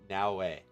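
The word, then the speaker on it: Naoe: butchering Now's name because it's spelled n a o e which like nobody who doesn't know how to pronounce Japanese the Japanese letters is going to know how to pronounce that correctly they're going to look at and going to now you know that cuz that's how actually is it's it's now way uh but yeah it's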